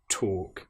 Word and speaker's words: talk: Now you'll notice that in both of these words, walking and talking, we have the L, which isn't produced. It's not, we don't hear the L woke. It's walk and talk.